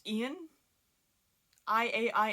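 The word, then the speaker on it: Iain: Next book on the list is We Spread by I want to say it's pronounced Ian.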